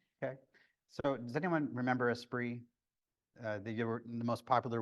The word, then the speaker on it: Esprit: Everyone mispronounced it when I was there, but yeah, we just called it a spree. Esprit.